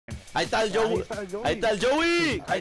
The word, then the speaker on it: Jowuy: Joey. ¿Cómo se pronuncia tu nombre, güey?